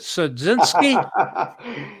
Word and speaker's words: Siudzinski: going to try your last name is it sadzinski yes hello hello everybody hello remix your pronunciation is really really good remember you are